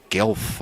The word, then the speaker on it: Guelph: chris's former our university which is pronounced guelph i think g-u-e-l-p-h which is hard to say if you're australian and you've lived in korea for a long time it's like a one-syllable word with uh five different sounds feel free